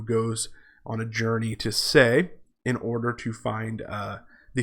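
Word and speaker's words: Sais: dread goddess's veil at Leh? Okay, that's actually a mispronunciation of the Egyptian town Se, which is referenced in a poem by Schiller, famous German idealist poet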